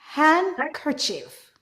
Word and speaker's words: handkerchief: Sometimes when we have N and D together, we remove the D. For example, handkerchief, handsome, sandwich.